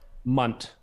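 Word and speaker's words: Mynt: Might be pronounced mint. Munt.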